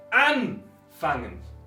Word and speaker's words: anfangen: Anfangen, porque en total tenemos 3 sílabas, acento en la primera.